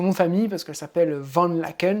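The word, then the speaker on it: Van Laeken: famille parce qu'elle s'appelle vendent laquelle il faut que c'est comme ça que ça se prononce et vendre la can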